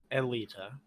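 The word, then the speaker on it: Eylita: say her name uh elliott elita okay my clothes you're close it's not 100 but uh paul how do they set in the audiobook okay as far as i remember it's elita in the audiobook i could be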